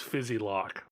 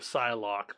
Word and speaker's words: Psylocke: he for whatever reason thought it was fizzy lock what what yup so that was that was mangled I can't tell what you're trying to pronounce fizzy lock instead of Psylocke backspin character ah yeah